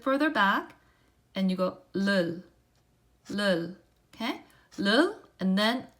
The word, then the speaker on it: 를: pronounce it like this, leul, leul. So all you do is touch up, leul, leul, leul. So you touch and then go back, leul, okay, leul.